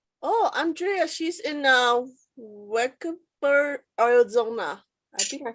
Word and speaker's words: Wickenburg: a great question oh andrea she's in uh wickedber arizona i think i said it right double why colorado craft company hmm w-i-c-k-e-m-u-r-g wickenburg like 30 minutes 40 minutes away from me